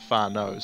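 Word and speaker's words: whānau: word for family and it's not spelt the same but that's how you pronounce it far nose so that's what my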